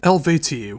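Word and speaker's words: Eluveitie: Now we have Elvat with Anu.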